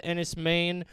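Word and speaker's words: Enys Men: movie on Hulu called Ennis Maine, ENYS space MEN. It looks like men. It's pronounced Maine.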